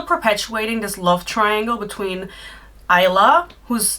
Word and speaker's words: Isla: She's still perpetuating this love triangle between Isla, whose name is pronounced Isla, but who cares about that?